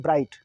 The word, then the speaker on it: bright: Next हमारा है BRIGHT ब्राइट, BRIGHT ब्राइट, ब्राइट में ब्राइट मीन्स चमकीला है ना, इसमें भी GH साइलेंट है।